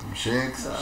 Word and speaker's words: Shcks: La pronunciación correcta es Shex.